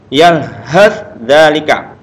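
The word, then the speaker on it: يلهث ذلك: Gini juga dengan sa dengan za. Yalhadzalika. Langsung ke suara za, yalhadzalika. sa-nya hilang.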